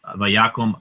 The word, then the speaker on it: vayakom: And so vayakom, you can see it's an O because this is not the stressed syllable and it's closed.